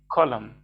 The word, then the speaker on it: column: وصفوف، العمود بنقول عليه column. والصف بنقول عليه رو، والإن هنا ما بننطقهاش، حرف الإن هنا ما بننطقهاش. column زي كلمة الخريف، اسمه إيه الخريف؟ autumn، برضو في كلمة autumn ما بننطقش الإن.